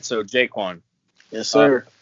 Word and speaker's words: JaQuan: All right, so JaQuan. Yes, Uh, sir. it's JaQuan, right? It's not JaQuan. You go. It's JaQuan, right?